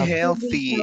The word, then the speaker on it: healthy: healthy healthy okay healthy so this type of pronunciation your tongue needs to be here you see hell so we say hell exactly to make the correct sound your tongue needs to be out healthy okay okay heal healthy